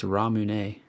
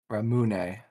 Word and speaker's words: Ramune: I think it's Ramune. Yeah, you're right. Ramune. The Mhm. emphasis is on the mu.